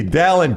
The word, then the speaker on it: Dalen: If we run it back sometimes, my name is pronounced like Alan, not Dalen. I said his name wrong the entire interview. It's Dalen Cuff. Alan with a D, Dalen Cuff, not Dalen.